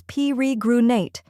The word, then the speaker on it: peregrinate: The correct pronunciation is peregrinate. Let's break it down. First, we have P-E-H, which sounds like pe in pet. Next is re, which sounds like the re in read.